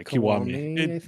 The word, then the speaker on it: Kiwami: Yeah, Kiwami.